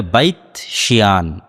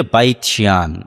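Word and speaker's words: בית שאן: ইসরাইলের সীমানার মধ্যে পড়ে হিব্রু এবং আরবি উচ্চারণের পার্থক্যের কারণে তারা উচ্চারণ করে বাইতশিয়ান যেটা আরবিতে এসেছে বাইসান সেটাই হিব্রুতে বাইতশিয়ান ইসরাইলের একটা ভালো প্রসিদ্ধ শহর।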